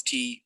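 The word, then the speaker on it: 茶: In Mandarin and Cantonese, it's pronounced cha. So if a language calls tea some variation of cha, then tea reached them overland by way of the Silk Road. But in Min Chinese, spoken in the coastal province of Fujian, the character is pronounced te.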